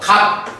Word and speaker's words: 값: 어떻게 되는 거죠 그렇죠 갑 이렇게 발음이 됩니다 그죠 그럼이 경우에는 뭐가 일어났냐 시옷이 탈락되는 경우라고 볼 수가 있겠지 그럼요 경우에 나타나 의문